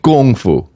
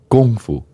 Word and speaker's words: Kung Fu: and they're calling it Kung Fu.